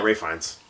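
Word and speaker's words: Ralph Fiennes: Ray Fine. Yeah, Ray Fiennes. Yeah. Ralph Phineas is how your name is spelled, asshole.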